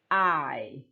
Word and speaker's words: eye: Mata itu adalah eye. Oke, sama seperti kalau kalian mengatakan I, saya dalam bahasa Inggris ya. I itu juga sama dengan I, begitu ya. Jadi pengucapannya sama.